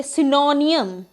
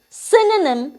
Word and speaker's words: synonym: next word is synonym we make mistake here in these three letters we say synonym but it is synonym in actual the next word is